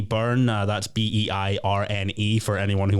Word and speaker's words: Beirne: my name is spelled yes thank you for pronouncing it correctly it's pardon I got brought on as dainty Bean again oh that's quite